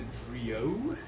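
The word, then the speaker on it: Drillaud: I'm using the Drio, is how it's pronounced.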